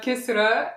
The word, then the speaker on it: kisra: We have garasa, we have kisra, and we have asida. Can you say that? Say garasa. Garasa. Kisra. Kisra. And asida. Asida.